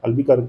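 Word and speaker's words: Albuquerque: हाँ, अल्बुकर्क जो थे, अल्बुकर्क, इसको जो करेक्टली प्रोनाउंस कर लीजिएगा।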